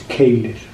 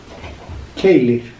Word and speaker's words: Keilir: It is Keilir. Keilir.